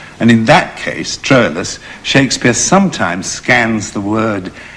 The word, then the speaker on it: Troilus: sound than hector yes they also pronounce what we call troilus astrolus which sounds more romantic which probably befits his character and in that case troilus shakespeare sometimes scans the